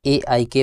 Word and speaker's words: Aik: हम जानने वाले हैं एक pipes and polymers limited company के बारे में। इसे आप AIK पाइप्स भी बोल सकते हैं, लेकिन हम इस वीडियो में एक पाइप पॉलीमर लिमिटेड प्रोनाउंस करेंगे।